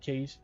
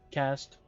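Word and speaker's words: caste: even members of the servant case cast won't keep saying case but they pronounce it cast so we're just going to say cast have been elevated to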